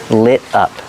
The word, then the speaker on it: lit: Lit up. The T is pronounced like a fast D.